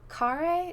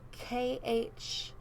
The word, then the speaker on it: Khare: I think it was Michelle Care. Is that how you say it? It's Michelle Khare.